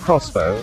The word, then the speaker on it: X-BOW: Its name is pronounced Crossbow, inspired by the weapon of the same name.